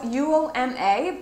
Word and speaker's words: Uoma: This one is called Uoma Beauty, and I know in my recent video I think I said it wrong because it is spelled U-O-M-A, but on their website they say that it's spelled Uoma.